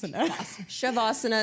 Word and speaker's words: savasana: you said it wrong savasana no I didn't because I said Shabbos shavasana is correct also okay it's fine you're